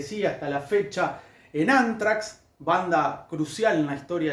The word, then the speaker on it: Anthrax: bonus track y de Antrax o anfrax, como se pronunciaría, eh, Este en el idioma inglés, pero yo voy a decirle antrax.